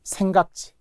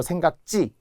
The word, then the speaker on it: 생각지: 계열이라고 하는데 자 1순위는 생각지 원래는 분명히 생각하지잖아요. 생각하지. 그런데 기억받침이 오면서 하가 탈락하기 때문에 생각지 못했어요. 발음도 생각지 치라고 하면 절대 안 돼. 생각지.